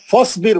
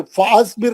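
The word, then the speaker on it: فاصبر: बिस्मिल्लाह फसबिर इन वअदुल्लाहि एक मिनट, अलिफ नहीं पढ़ना है ना, फसबिर, फासबिर नहीं, फसबिर।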